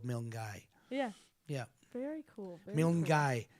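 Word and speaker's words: Milngavie: place close by called milgai yeah yeah very cool guy it looks if you read it phonetically the way it's spelled it looks like milne gavi but it's pronounced milgai yeah interesting i i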